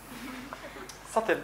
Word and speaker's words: subtle: subtle you knowt mtle subtle with a silent T subtle means implied not